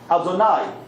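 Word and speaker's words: אֲדֹנָי: We don't pronounce that. We pronounce it how? Adonai, which is my master.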